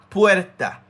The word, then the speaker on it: puerta: You can put a D if you want. Not to spell it with it, but to pronounce it. Pued. Pu. Not pu, but Pued. Pued. Puerta.